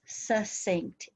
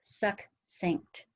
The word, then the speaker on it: succinct: heard mary and eric the word s-u-c-c-i-n-t is not pronounced succinct it's succinct so that was the